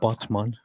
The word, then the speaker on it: Batman: but there is a a place in turkey named botman which just is spelled exactly like Batman so I was always